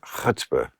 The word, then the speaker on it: chutzpah: Chutzpah.